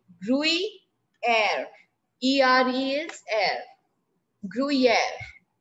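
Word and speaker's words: gruyère: chamomber le gruyere then what is the pronunciation of second one group e grew e brewing air er els air gruyere yes written yes ma'am okay then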